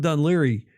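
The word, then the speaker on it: Dún Laoghaire: You've heard Dun Liry many, many times. Well, that's how it's spelled.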